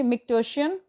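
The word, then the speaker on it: micturition: of urine is called Mick टर्सिन या यन जो भी पढ़ लीजिए उसको एंड द न्यूरल ठीक स्पेलिंग इसकी एम आई सी टी यू आर आई टी आई ओ एन है ठी मिट शियन एंड the neural mechanism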